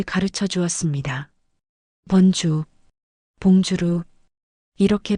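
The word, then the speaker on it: bonjour: 번주, 봉주루, 이렇게 발음합니다. 봉주루? 아니에요. 지읒 소리가 아니라 부드러운 지읒 소리예요. 봉주루?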